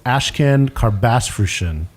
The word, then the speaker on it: Ashkan Karbasfrooshan: we are here with ashcan car bass version hopefully I pronounced the four syllables correctly you nailed it I'm very happy mission